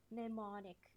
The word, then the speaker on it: mnemonic: is the mnemonic devices mnemonic it's a very funny word the m is silent i would know because